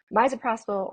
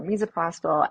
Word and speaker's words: misoprostol: The medicine that we're talking about is called misoprostol, and people pronounce it either misoprostol or misoprostol, and we shorten it to either miso or miso.